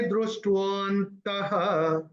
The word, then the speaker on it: दृष्टवन्तः: Okay, और ये आधे स पे जो संधि छूटेगी ना, तो आधे स का उच्चारण होगा विसर्ग। तो मैंने कैसे चयन किया था? उभयोरपि दृष्टवन्तः त्वनयोस्तत्त्वदर्शिभिः, ऐसे करके मैंने चयन किया।